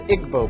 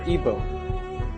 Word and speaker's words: Igbo: nigeria you have the igbo people or ibo pronounced either way there's 40 million of